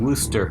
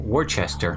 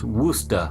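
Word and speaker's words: Worcester: well close to Boston a little town called rooster is how you pronounce it would stop but it spelled wor CES ter so you would naturally think worchester yes you know but when we got up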